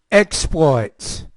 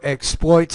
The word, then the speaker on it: exploits: as a noun or exploits as a verb so either way depending on whether it's a sometimes verbs we have stress in the second syllable and sometimes with nouns we have stress in the first syllable here's an example conduct